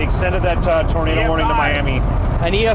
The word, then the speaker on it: Miami: soup and and pronounce Miami correctly. Miami. Miami. Wikipedia says Miami, but we can adjust if we got a local on there. Miami. Miami's for Oklahoma. Miami is for the beach.